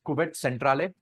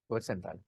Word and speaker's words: cuvette centrale: Whatever, okay, it is pronounced as cuvette centrale. Rajeshwari, how it is pronounced? Cuvette centrale.